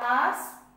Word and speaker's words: hours: Here hours H is silent. Okay. Hours you will not say. Hours. I sleep 8 hours a day.